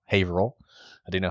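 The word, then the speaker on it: Haverhill: Uh she's just outside of Haveril, not Haver Hill. Haveril.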